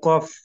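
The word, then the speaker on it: ق: উচ্চারণ হয় সব অক্ষর কফ হচ্ছে যে জিহ্বার মধ্যখান জিহ্বার মধ্যখান মধ্যখান থেকে কাফ কফ কফ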